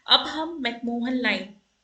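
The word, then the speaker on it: McMahon: अब देखिए ये जो मैकमोहन लाइन है ये कैसे डेवलप हुई। तो अरुणाचल प्रदेश की करंट बाउंड्री ही मैकमोहन लाइन है, मैकमेहॉन line actually, I am sorry for my pronunciation.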